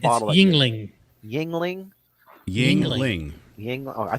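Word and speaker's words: Yuengling: how do you pronounce the Oh, second bottle? there you go. It's not The Yulang. second bottle. The second It's bottle. Yingling.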